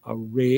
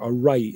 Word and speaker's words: awry: I know it's under difficult circumstances because things just seem to be going array in our country, or awry, I think might be the better pronunciation.